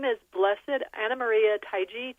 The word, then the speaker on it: Taigi: Her name is Blessed Anamaria Taii.